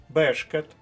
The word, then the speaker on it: бешкет: останній пункт нашого уроку слова з наголосом на перший склад нагадую для виконання тренувальних